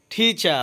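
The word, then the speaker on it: teacher: টিচার অর্থ শিক্ষক। এখানে টিচারের লাস্টে আরের উচ্চারণ হবে না।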